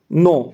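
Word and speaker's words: know: अब next question हम देखते हैं, तो ये भी आपका साइलेंट लेटर का है, नो। अब इसमें नो पढ़ रहे हैं अपन, के का इसमें जो साउंड है वो नहीं आ रहा है, तो इसमें सही आंसर आपका होगा सी वाला, के।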